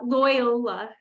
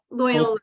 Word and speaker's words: Loyola: May I, a trick question, how do you pronounce the name of your university? It's a hard one. It's called Loyola. So it's kind of a tongue twister there, but Loyola is the name.